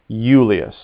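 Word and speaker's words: Iulius: assume notice how that spell that's i u l i u s and often when i comes first in latin it makes a y sound euless so again repeat yulia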